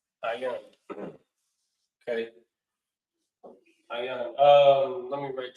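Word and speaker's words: עין: So the eye is pronounced ayan. Ayan. Ayan.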